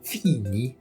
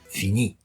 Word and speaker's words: fini: tonique sur l'avant-dernière syllabe, vous n'allez pas dire fini, mais vous allez dire fini. C'est-à-dire que vous allez mettre l'accent sur la voyelle finale.